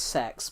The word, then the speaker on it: CeX: CEX, well, it's actually pronounced sex because it's the Central Exchange, they call it.